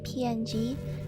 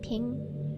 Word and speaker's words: PNG: Sometimes I say PNG, but sometimes I say ping, and then sometimes I say JPG, and sometimes I say JPEG.